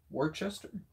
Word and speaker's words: Worcester: William Johnston's A Pronouncing and Spelling Dictionary, 1764, notes that the C is not pronounced in the words such as Leicester, Gloucestershire, Worcester? I think that's how I'm saying it, right? I don't know. Which makes them two syllable words.